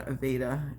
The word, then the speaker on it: Aveda: Aveda is actually how it's pronounced.